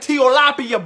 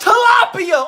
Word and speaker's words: tilapia: I said teapia blubber lips. Ooh, it's pronounced tilapia.